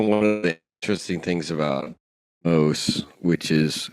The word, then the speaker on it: Mauss: moved to France and adopted the French pronunciation so as not to be associated with the with the little animal makes sense there's a